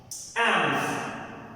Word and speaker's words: alms: एम्स, ALMS, इसके अंदर L जो है वो साइलेंट है।